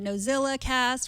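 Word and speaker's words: NosillaCast: Allison Sheridan from the Nozilla cast, which I pronounce like a Z, but it's an S.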